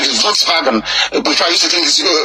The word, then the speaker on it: Volkswagen: pronounced as V like volksvagen before I used to think um Volkswagen no it's Volkswagen that's what it's called because W is pronounced as V Nigeria's next leader ties